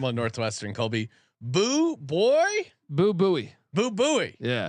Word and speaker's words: Bowie: Boo Bowie. Yeah, like Sam Bowie. Like Sam Bowie.